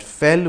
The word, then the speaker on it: fell: as a reminder that fel which rhymes with it is the correct word